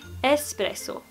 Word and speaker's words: espresso: så beställer du en espresso. Inte X. Espresso.